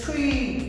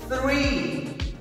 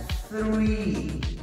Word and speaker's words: three: Es three. Nuestra lengua se coloca entre los dientes y expulsamos aire para hacer ese sonido que en español no existe, sería three.